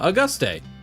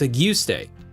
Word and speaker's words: Auguste: I look at it and go, huh, Auguste. No, it's Auguste.